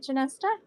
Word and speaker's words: Chinesta: Is it Chinesta? Am I like botching it up? Oh, I said it. Am I bot? Yes, that's right. Chinesta. Thank you. I did it right. I said it right.